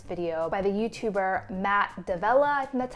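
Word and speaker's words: D'Avella: inspired by this video by the youtuber matt davella and that's how you pronounce his name he had a video i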